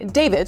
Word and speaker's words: D4VD: The car, which was a Tesla that belonged to a singer and Queens native who goes by the name David, spelled with 8-4.